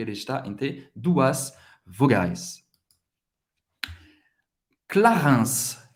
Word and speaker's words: Clarins: Clarins. Clarins. IN tem o som do 1. Clarins. Você vai pronunciar o S no final.